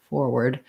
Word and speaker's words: forward: r stressed for forward forward first syllable stress so uh make sure